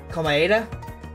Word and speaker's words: Komaeda: Komaeda? Oh, yeah, that I get it now. That's how you pronounce his last name, sorry.